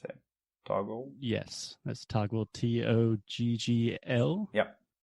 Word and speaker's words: Toggl: I think that's how you pronounce it. Toggle.